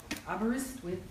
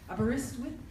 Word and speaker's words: Aberystwyth: Carr Chair and Head of the Department of International Politics at Aberystwyth University. I looked on YouTube today to find out how to pronounce that word. Aberystwyth. Aberystwyth?